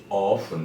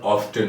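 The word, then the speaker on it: often: Regularly, generally, always, sometimes, অফেন, এটা আবার অফটেন উচ্চারণ হয়। অফেন টি বাদ দিয়ে আবার অফটেন টি যুক্ত করে উচ্চারণ করা হয়, দুইভাবে, অফেন বা অফটেন, দুটি উচ্চারণই সঠিক।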